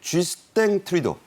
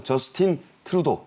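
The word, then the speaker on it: Justin Trudeau: 윤 대통령은 30일 쥐스탱 트리도, 불어식 발음입니다. 영어로는 뭐 저스틴 트루도 이렇게 하죠.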